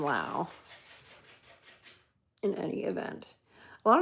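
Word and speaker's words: Laux: Um, but yeah, amazing poets and Lao is spelled L A U X. So, it's like this Dorian Lao.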